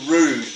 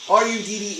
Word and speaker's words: Rudd: that he was Ricky Rude. No, not that Ricky Rude. No, dude, it's bloomin' Rick Rudd. Look, R-U-D-D is pronounced Rudd, you tool.